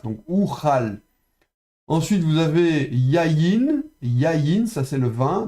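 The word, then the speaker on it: יַיִן: Ensuite, vous avez yayin. Yayin, ça c'est le vin. Donc, on prononce yod avec patar. Et puis de la consonne suivante, yod avec y. Donc, yayin. Yayin.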